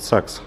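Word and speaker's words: Sachs: ещё мне очень рекомендовали амортизаторы фирмы загс ну или сакс простонародье правильно произносить загс как говорят но все произносит сакс короче говоря на сорренто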